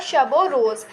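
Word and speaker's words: شب و روز: तो इसका प्रोनन्सिएट होगा शबो रोज।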